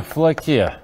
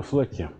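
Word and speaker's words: Флоке: Итак, утверждение номер два, оно уже известно под названием «Теорема Флаке». Это я ударение просто, чтобы правильное было. Теорема Флаке.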